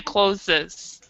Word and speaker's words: clothes: prefer this one where you don't have to deal with the th you just say close and if and then